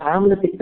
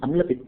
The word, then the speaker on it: अम्ल पित्त: हम आम्ल पित्त कहते हैं जबकि सही उच्चारण अम्ल पित्त है.